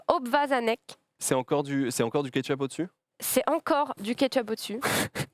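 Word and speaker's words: obwarzanek: Ça se prononce obvazanek.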